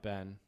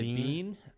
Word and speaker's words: been: But apparently some places they'll say bean. Yeah. And so weirdos. Right. Ben is more common in Michigan and Wisconsin. But then once you get into Ohio, Indiana, and other states down south, it's more like the I and sit.